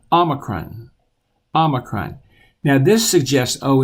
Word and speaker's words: omicron: then our next letter has the Oh sound Omicron Omicron now this suggests oh isn't obey I don't want you to say it that way I want you to say ah Omicron like OS and bought Omicron Omicron now you've seen this is PI like